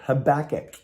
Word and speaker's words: Habakkuk: in a book of habakkuk not tobacco or habakkuk no it's it's uh it's i almost said it wrong habakkuk it's in the